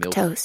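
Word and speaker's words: milquetoast: because I was literally thinking Milk milk toast. space toast. It's pronounced milk Space toast.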